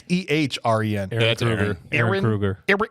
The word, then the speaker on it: Ehren: It's EHREN.